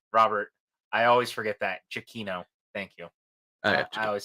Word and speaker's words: Giacchino: Chiquino.